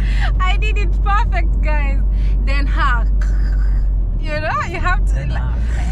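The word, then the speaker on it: Den Haag: there but in that they pronounce it as then ha they are really surprised on how I get it right now yeah I did it perfect guys then hug you know you have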